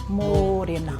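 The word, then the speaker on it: Mōrena: So only one r e te iwi, not 15 r. Right. So it'd be morena.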